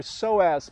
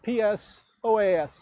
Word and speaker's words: psoas: back what this does is it activates your psoas muscle it's a muscle that often gets neglected as we get older it's a very important hip flexor if you want to look it up it's spelled psoas inhale come up soften into your exhale left